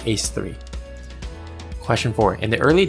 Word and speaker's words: A3: this is Dance Dance Revolution A3 which is pronounced ace3 question four in the